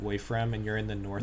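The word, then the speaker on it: Woifrem: the one where from how do i spell that w-o-i-f-r-e-m that's it's it's uh it's like essentially like the world is is called wafram and you're in the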